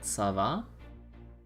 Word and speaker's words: ça va: Is it like, do you pronounce that C-looking letter as like a S sound? Like ça va?